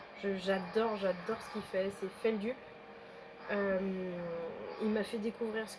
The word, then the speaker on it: Feldup: Donc voilà, Feldup, comme ça se prononce, F-E-L-D-U-P.